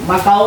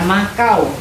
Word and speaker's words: Makau: Negara-negara di Asia yaitu ada satu Tiongkok, ada Hongkong, ada Maau. Makau ini bukan makau cara bacanya ya. Maau Jepang, Korea Utara, Korea Selatan, Mongolia, Taiwan.